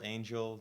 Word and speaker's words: Angell: I'm here with Angell. That's how you pronounce it, right? Angell.